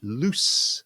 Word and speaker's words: loose: my shirt is quite loose. Yeah. And the difference between them is simply the sound at the end, where here the SE produces a Z sound, here the SE produces an S sound, but that's the only difference.